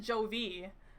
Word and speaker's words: Jovi: I used to pronounce it Jovi, and then somebody corrected me that no, it is in fact Jovi.